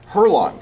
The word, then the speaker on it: Hurlong: Jose Cuervo, ambassador, David Hurlong. Yes. Did I pronounce that correctly?